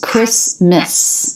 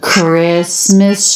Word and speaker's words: Christmas: are our stress syllables Christmas do you notice we dropped that t that's because it comes between two consonants I think you could